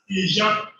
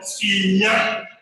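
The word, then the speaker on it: Iyan: So the same way, the word I-Y-A-N, you see that the letter I represents the sound E, and then the letter Y represents the sound Y, and the diagram A-N represents the sound A. And so that sound, that word will be phonetically realized as Ijan. And I don't see any Edo person that will take that as the correct pronunciation for Inya.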